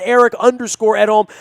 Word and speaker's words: Edholm: Eric out on Twitter as well at Eric_Edholm. That's EDHOLM. I am pronouncing that correct, right, Eric?